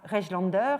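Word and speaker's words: Rejlander: qui travaille essentiellement en Angleterre, qui est Oscar Regelander. Donc ça s'écrit R-E-J-L-A-N-D-E-R, et donc est un des grands photographes de la photographie victorienne.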